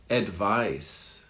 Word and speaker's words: advice: Advise, like a Z, advise. And then the next one is advice, an S sound. So advise, advice, advise, advice. So the endings are different. Z, S, advise, advice.